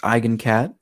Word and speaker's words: Eigencat: So first it is pronounced Eigencat. I've heard all sorts of pronunciations. People saying like Eigen or Eigen, stuff like that. It is Eigen. Eigen is a German word.